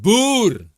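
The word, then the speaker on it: Boer: Dear people in the chat, especially you English wankers, it's pronounced boor. Boor. There you go.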